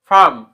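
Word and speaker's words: farm: park তারপরে star ফম এফ এ আর এম ফারম এইচ এ আরডি কি হবে হারড কিন্তু এখানে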